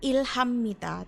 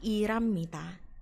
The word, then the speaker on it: 일합니다: Ini bacanya adalah 일합니다 ya. 일합니다. Bukan ilhammita tapi iramita ya.